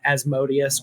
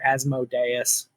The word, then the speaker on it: Asmodeus: The whole concept of like, well, one of the prime antagonists in the game is Asmodeus or Asmodeus. People pronounce it different ways. I tend to use Asmodeus, but he's the Lord of the Nine Hells of Bator.